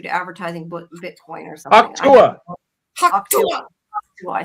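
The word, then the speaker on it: Hawk Tuah: Hawktua.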